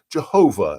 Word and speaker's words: Yahweh: and his name is we sort of say it in the English way of saying it is Yahweh Yahweh it's actually four letters in the Hebrew but we would pronounce it Yahweh or Jehovah if you want to